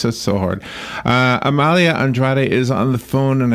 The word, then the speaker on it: Amalia Andrade: Amalia Andrade. Good morning, Amalia. How are you? I'm great. And by the way, you pronounced my name perfectly.